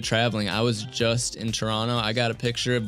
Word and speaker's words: Toronto: that it's legit because you don't pronounce the second T if you're on the inside ah Toronto Toronto yeah t dot um